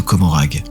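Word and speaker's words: Commorragh: des recoins impossibles de Comorag. Comorag ou Comora selon les prononciations était la ville repère des aeldes d'ar noir niché dans la toile.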